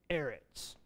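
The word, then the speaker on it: ארץ: a word tonic syllable so we think of um Eretz you remember what Eretz means earth that's right Eretz we have that little arrow up there and that's a sloppy Segoe we have a little arrow up there telling us that instead of falling on the last syllable falls on the first syllable the emphasis pronunciation Eretz so when we do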